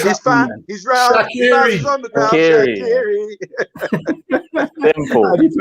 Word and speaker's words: Shaqiri: Shaqiri. Simple. How do you pronounce his first name?